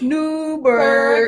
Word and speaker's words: Newburgh: Y'all said it wrong. It's Newburgh.